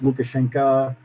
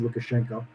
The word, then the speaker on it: Lukashenko: yeah alexander lukashenko lukashenko depending on in russian it's luka shankar in you know english you probably pronounced lukashenko yeah look a lot